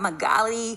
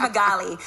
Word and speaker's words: Magali: And there's several ways to pronounce her name, okay? So in Spanish it's Magali, but then in English it's Magali. Magali, and then in French it's Magali.